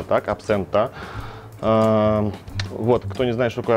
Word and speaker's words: Absenta: тема это абсент xenta accento accento именно так произносится по-итальянски и названия данного бренда в италии произносится абсента именно так абсента вот кто не знаешь